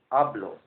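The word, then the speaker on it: hablo: in Spanish in the present tense I speak ablo h a b l o and then adopting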